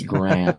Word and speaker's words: Graham: name correctly in England but it's I to spell it all the time but it's Graham you know Graham you can get that's